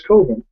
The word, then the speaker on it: Coven: to explain to him that it's called It's pronounced coven he's like nah man comes that sounds like